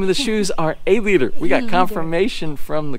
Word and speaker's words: Aleader: the way the name of the shoes are a leader we got confirmation from the company so for the correct pronunciation so let's go ahead and head out